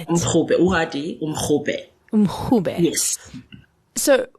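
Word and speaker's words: umrhubhe: Umrube.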